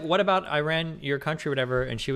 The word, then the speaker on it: Iran: And she's like, or no, somebody said Iran. And she's like, it's Iran. If you're going to pronounce my country's name right, say it correctly.